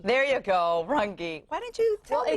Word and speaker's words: Runge: Here to break it down and help us improve our credit score is certified mortgage planner Runge with Marquee Capital Solutions.